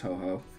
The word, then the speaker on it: Ho-Ho: So I created Ho-Ho, and his name is pronounced Ho-Ho.